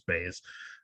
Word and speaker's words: Buys: um this is another late replacement jp is jumping in or bays i'm sorry it's it's not pronounced pies it's base um montel we'll start